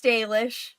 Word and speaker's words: Dalish: Is it Dalish, not Dalish? It's Dalish.